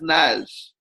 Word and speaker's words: Nagy: Their name was Nash, and it is spelled Nagy, Nagy. And they said to me it was pronounced Nash.